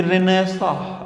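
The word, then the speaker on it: Renaissance: पढ़ा होगा कभी कि रेनेसा, रेनेसा। रिकनेसा और रेनेसा में दोनों में अलग रेनेसा, ये वर्ड पढ़े होंगे। रेनेसा, रेनेसा, ये एनसी है ना पीछे, ये साइलेंट है, बोला नहीं जाएगा।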